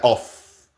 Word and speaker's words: of: Y finalmente, una excepción bien chistosa. Porque ni es O ni es F. Pero ahorita olvidémonos de la vocal. Y esta suena también como V. Entonces, ¿esta cómo se pronuncia? La otra se pronuncia off.